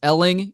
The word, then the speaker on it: Elling: I speak with somebody whose last name rhymes with my last name my last name is Elling your last name is Stelling uh you actually went